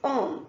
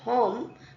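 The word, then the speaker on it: homme: means a man in English so um we pronounced as om not home but om okay here the word hotel hotel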